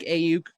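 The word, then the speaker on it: Aiyuk: Like I like Ayuk. Ayuk is how you say his name, right?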